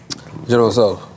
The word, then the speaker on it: General Tso's: The T is silent. General Tso's.